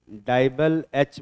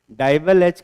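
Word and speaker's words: DIBAL-H: इसको हम डाइबल एच बोलते हैं।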